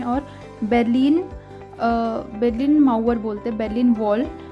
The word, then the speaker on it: Berlin: देखिए यह है बर्लिन इ नट बर्लिन इट्स बलिन जो जर्मनी का कैपिटल भी